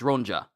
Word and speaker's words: Rona: It's not Eva. It's Rona. Rona. Rona. Rona. Rona. Y'all told me about the pronounce the correct pronunciation last time.